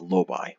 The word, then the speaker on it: Lobi: It's not lobby, it's Lobi, what I said earlier. Someone in the comments mentioned a couple days ago that I was saying Lobi wrong. I was saying it as lobby instead of Lobi.